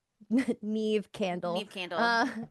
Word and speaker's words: Neve: I She guess Neve said, Candle, "I and I'm know you like, guys are fuck doing Scream no.